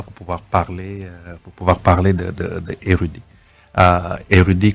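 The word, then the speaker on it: Airudi: Érudit, comme son nom l'indique, c'est érudit, mais ça s'écrit A-I-R-U-D-I.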